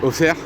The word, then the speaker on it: Auxerre: Alors, désolé pour la prononciation d'Auxerre. Je sais que c'est Auxerre. Et moi, je dis Auxerre.